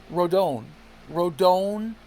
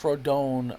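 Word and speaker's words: Rodón: But Carlos Rodon, and you do say his name like Rodon, I believe. Some guy from Puerto Rico called up the fan and said, if you say it like Rodon, you're basically saying it like if you're not Hispanic. He's Hispanic. I believe he's Puerto Rican. So people from Puerto Rico and Hispanic countries will say the name like Rodon.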